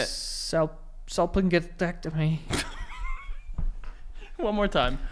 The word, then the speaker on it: salpingectomy: Salpingectomy. One more time. Salpingectomy.